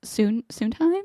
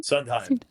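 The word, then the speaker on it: Sundheim: You were a campaign assistant for I think Duff Suntime. Is that how you say his name? Sunheim.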